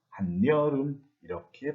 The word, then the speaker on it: 한여름: 그래가지고 맨입, 한여름이 됐는데 이것을 실제로 발음을 할 때에는 분명히 중간에 없었던 니은을 덧붙여가지고 맨입, 한여름 이렇게 발음을 합니다.